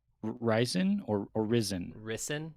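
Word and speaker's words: Rysn: name ryzen or arizon risen is how they say it risen it sounds like two syllables like risin is how they how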